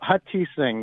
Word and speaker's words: Hutheesing: So Hutheesing would be ideal, but you did a great job.